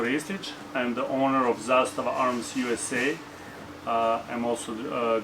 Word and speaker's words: Zastava: So if you want to pronounce it as people pronounce in Serbia, then you can head to our social media.